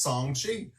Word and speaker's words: Shang-Chi: And by the way, we learned this week that Shang-Chi is pronounced Song-Chi.